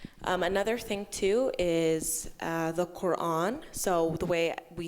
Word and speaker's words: Quran: So, Quran, I think it makes the same sound as like quack, Quran.